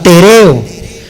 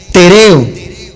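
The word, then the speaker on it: τηρέω: La palabra guardar es la palabra tereo, con acento en la segunda E, tereo.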